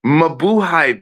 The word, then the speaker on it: Mabuhay: That's your business, But me, listen, if you're gonna say it right, man, I'm gonna repeat it again. Mabuhay, bitches, mabuhay. That's what you say, man.